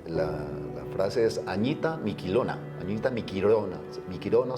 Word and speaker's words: Miquilona: frase es Añita Miquilona, Miquilona se pronuncia, pero es con L, Miquilona, de juntos hasta el final.